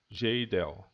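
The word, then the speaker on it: Kjeldahl: que gerdau alguns falo mas a pronúncia dinamarquesa geidel e a esse método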